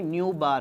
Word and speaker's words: nu bar: It is given by nu bar. Idu eppadi pronounce pananum? Nu bar. Mu kadayadu.